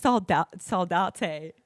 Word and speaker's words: Salate: We saying Sal. And he goes, "By the way, it's Salate."